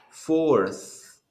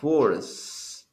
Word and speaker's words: fourth: do you pronounce this one for so you pronounce it fourth as you can see you have the t